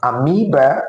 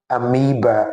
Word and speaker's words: amoeba: That word is actually pronounced amoeba and not amoeba.